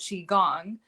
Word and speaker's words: qigong: personally achieve this is through a practice called qi gong which is spelled q-i-g-o-n-g and it's an ancient chinese exercise